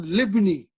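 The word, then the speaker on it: لابني: Ahadi darajatu libni. See, it is li ibni, but you did not pronounce the hamza because this is hamzatul wasal, ibnu.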